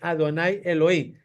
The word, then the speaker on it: Adonai Elohim: delante de adonay Elohim Por qué se pronuncia aquí adonay Elohim porque aquí está y b pegado de la palabra Elohim y ahí no se lee ashen Elohim se lee Adonai Elohim Qué significa señorío y